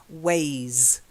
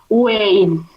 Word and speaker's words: ways: So this one is ways. Try it. Yes, ways, ways, Ways. ways. Yeah, try saying z.